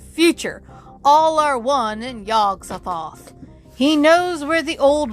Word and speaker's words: Yog-Sothoth: But it's Y-O-G apostrophe dash S-O-T-H-O-T-H. To me, that's yog-sothoth. Is the key and guardian of the gate. Past, present, future. All are one in yog-sothoth.